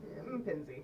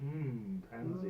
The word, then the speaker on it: M'Penzi: How do you pronounce? M'Penzi. M'Penzi.